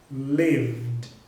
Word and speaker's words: lived: Então nesse caso, você vai pronunciar o ED com o som de D. Então vai ficar assim, ó, lived, lived, ok? Não tem vogal nenhuma aí no meio do V e do D.